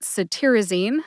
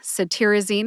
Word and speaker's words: cetirizine: first we've got saine saine has four syllables s like citrus tear like crying a tear I which is a short I sound or a schw ey sound I and Zen which rhymes with teen put that all together and you get saine emphasize tiar see if